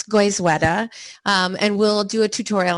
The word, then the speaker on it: Goizueta: goal tonight is to help you learn to pronounce goizwetta and we'll do a tutorial on that later